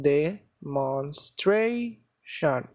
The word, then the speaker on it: demonstration: that is before tion for example demonstration tray shun this is the stress syllable the one that is before tion in this case there are four syllable de more stray shun and the stress one is the one before shun so let's do it